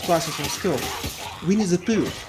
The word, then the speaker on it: Pooh: What I always wondered about, even when I was in first classes of school, Winnie the Pooh. It's like poo, like excrements.